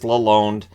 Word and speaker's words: Lalonde: so far uh Derek aloneed now I've heard Lalonde I said Lalonde but it is Lalonde uh that's how he wants it pronounced uh which is of